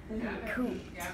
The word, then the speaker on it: cooped: Cooped. Cooped. And this is a funny ending, right? Because cooped, it almost sounds like there's a T at the end, but the ED on